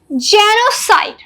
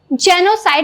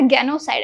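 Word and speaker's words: genocide: side let's come to जेनोसाइड इट्स जेनोसाइड नॉट जेनोसाइड actually it's जेनोसाइड जेनोसाइड means कई लोगों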